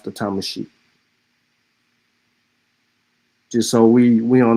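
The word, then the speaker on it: Tamasheq: Um, if you still here, Byron, um, Thomasic. Thomasic. I ain't doing you like the elbows, bro. But that's the Thomasic. That's how that they pronounce the Thomasic.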